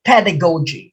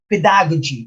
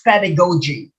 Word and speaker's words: pedagogy: box okay it's pronounced pedagogy because there are teachers who pronounce it pedagogy it's pedagogy the accent is on the first syllable when you say portmanteau